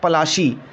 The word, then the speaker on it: Palashi: Plassey is an anglicized pronunciation of Palashi, and the place derived